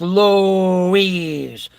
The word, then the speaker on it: Louise: Lewis is in charge Louise is a masculine name of Spanish origin pronounced Louise a Varian of Lewis and Luis the name means famous